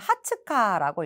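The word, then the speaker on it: 二十日: 다음에 본문으로 들어가도록 할게요 하와이니 고가쯔 20일은 여러분 하츠카라고 읽어요 하츠칸이 있겠다 이데 고각질 11은 토오카라고 읽습니다 고가치토건이 오후꾸 미주 망 액노키뽀 비즈니스 크로스대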